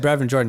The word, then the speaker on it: Brevin Jordan: say it wrong again no no you said brave and jordan you said it beautifully but i just think